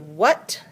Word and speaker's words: what: Now that changes the vowel. Be careful this week. That's the only word that has a different vowel sound. It sounds like kind of like a short U sound, but that's actually an A.